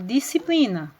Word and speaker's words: disciplina: x não aparece a outra palavra disciplina quando eu vou pronunciá-la também eu falo disciplina o s não aparece então vejam só eu